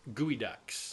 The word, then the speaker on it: geoducks: the coast of Washington and they dig up gooey ducks we know these things are they submerged ducks there I it spelled geoducks but it's pronounced gooey ducts oh and it is a some sort of